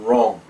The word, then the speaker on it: wrong: together in a word the W is silent as in right and wrong let's begin WR is